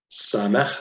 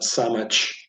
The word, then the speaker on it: Samech: Samech, so it's not Samech. By the way, there's no CH sound in the Hebrew language, so that's usually you